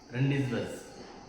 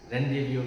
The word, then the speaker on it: Rendezvous: In this unit, first lesson, A reading is Rendezvous with Ray, not Rendezvous. Actual pronunciation is Rendezvous with Ray.